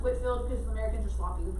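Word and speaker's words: Whitefield: the great awakening george white the dog is pronounced whitfield because americans are sloppy with pronunciation okay was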